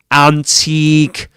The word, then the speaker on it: antique: inseek furniture antique antseek in the word antique you get at the beginning the vowel sound a antique and then you get the e the long E sound as in medium.